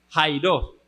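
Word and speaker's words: χαίρειν: se escribe shiren pero se pronuncia como Jairo Sí esa palabra aparece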